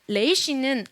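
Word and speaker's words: ריש: 근데 레이시는 알 발음인데 이 알 발음 중에서도 어떤 발음이냐면 독일어의 알 발음이에요.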